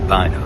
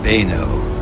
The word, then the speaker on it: Beuno: He was St. Beuno or Beno. I've got the pronunciation right I think this time.